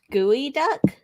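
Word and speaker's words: geoduck: yeah what Benjamin said it's pronounced gooey duck well gross but you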